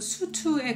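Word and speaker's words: Sotho: 맨소토에서 많이 따왔다고 해요 이제 소토라고 알려져 있지만 사실 발음은 수트에 가까워요 그리고 수트족이 언어가 새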